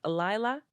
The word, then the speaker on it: Lila: Let's reprogram her so that she knows her name is pronounced Lila, not Layla.